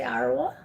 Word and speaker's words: Arwa: only your name but is it correct when i say arawa yep okay so one more